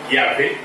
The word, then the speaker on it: Yahvé: Yahvé, c'est-à-dire Y-A-H-V-E. Y-A-H-V-E. et Yahvé. Mais ça c'est la prononciation.